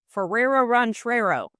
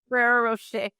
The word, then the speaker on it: Ferrero Rocher: I speak French and I should be able to say this right, but I say it wrong because Marlo calls it, as a joke, Ferrero Ranchero is what she calls it. Ferrero Rocher. And she calls it Ferrero Ranchero.